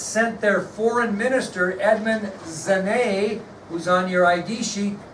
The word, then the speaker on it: Genet: It's spelled G-E-N-E-T, but pronounced Genet.